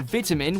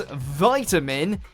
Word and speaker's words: vitamin: i taught them that in the uk you'll hear vitamin with a small eye but in the us it becomes vitamin as though it's a capital i the short eye pronunciation is a lot more common throughout the world than the american variant the word being said